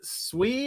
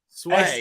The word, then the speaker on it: Swei: Hey pal, I've never asked you, is it Swee? Is that how you pronounce it? Swei. Sway. SW. Okay. Yeah, it's said it's pronounced. It looks like a Swee, but it's a Sway.